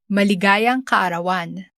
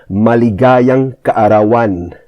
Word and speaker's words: maligayang kaarawan: Okay, so as you heard in the clip, maligayang kaarawan. Maligayang kaarawan. So the stress is on the ga and the an at the back.